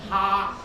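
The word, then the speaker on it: 蝦: And xia in Cantonese especially, it sounds like the word to laugh. Xia in Cantonese is ha, so of course it sounds like people laughing, ha ha ha ha ha, right?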